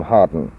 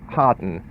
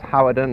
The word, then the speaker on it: Hawarden: and not so much Harden in fact when I first came to this area I couldn't even pronounce it I thought it was howardan or haarden it isn't a Welsh